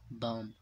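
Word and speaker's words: bomb: पर भी साइलेंट है बी को नहीं पढ़ा जा रहा तो इसे पढ़ते हैं बम और इसी का दूसरा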